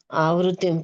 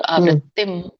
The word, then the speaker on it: ಆವೃತ್ತಿಂ: ಓದಲ Mataji ಯತ್ರಕಾಲೇತವನವೃತ್ತಿಂ ಆವೃತ್ತಿಂ ಚೈವಯೋಗಿನ ಪ್ರಯತಯಾಯಂತಿತಂ column ವಕ್ಷಮ ಭರತಶಭಯತಯಂತಿತಂಕಾಲಂ ಪ್ರಯತ ಪ್ರಯಾತಂತಿತಂ column ಪಕ್ಷಾಮಿ ಭರತಶ Hare Krishna ಇದು ಆವೃತ್ತಿಂ ಆವೃತಿಂ ಆವೃತ್ತಿಂ ಅಂತ ಹೇಳಬೇಡಿ ಎಲ್ರೂ ಆವೃತ್ತಿಂ ನೆಕ್ಸ್ಟ್ ಹೇಳ ಹರೇ